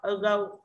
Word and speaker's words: ago: Ago, âm ô nhận trọng âm là go.